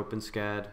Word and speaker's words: OpenSCAD: completeness of the implementation for openscad open s-cad i guess is the right way to say it linear extrusion um that